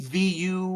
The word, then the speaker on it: Shavuot: Aggression, International Corgi Day, Audacity to Hope Day, Shavuot? Forgive me, my Jewish friends. I do not know how to pronounce that. Shavit? Shabbat? We don't roll on Shabbat, Shabbat? dude. Shavit? Shabbat? Shavuot.